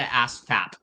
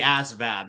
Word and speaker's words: ASVAB: now you're triggering me it's not the ASAP it's the ASVAB so you probably should